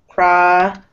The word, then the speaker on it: productivity: So you have vowel, T, vowel. Whenever this is the case, the T sounds like a D. We have productivity, like this.